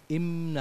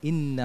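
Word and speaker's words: إنا: হয়েছে কিছু আহকামের মধ্যে যেমন ইন্না উচ্চারণ হচ্ছে তোমার মুখ বন্ধ হয়ে যাচ্ছে ইন্না হচ্ছে এরকম হবে না ইন্না হবে মুখ ওপেন থাকবে খোলা থাকবে এবং জুল আরশ এখানে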